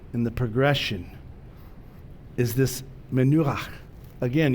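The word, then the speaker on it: מנוחה: But the goal in the progression is this menu. Again, you got to have something in the back of your throat if you want to get that last syllable in Hebrew. The pronunciation's on the center syllable.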